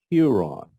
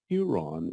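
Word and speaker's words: ἱερόν: it's quite a few this is rough breathing marks so it's pronounced with an H sound EE ear Ron Huron Huron is the root word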